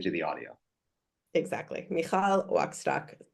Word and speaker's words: Wachstock: Mal waxtock. Two ch's each pronounced differently.